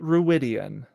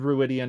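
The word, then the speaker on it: Rhuidean: ruidan ridian what I so the show my impression is that the show is gonna say it ruidan okay that's fine that's which we'll see how much that pronunciation holds across cultural groups and timelines and all those sorts of things but Rosman Pike said ruidan in our interview so that is what I'm going with um I now feel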